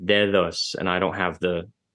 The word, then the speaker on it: dedos: For example, if you take Spanish, what would have been an underlying form dedos, the way it's pronounced in Spanish is dedos as a fricative, dedos, and I don't have the IPA character ready, so I'm just gonna use a capital D.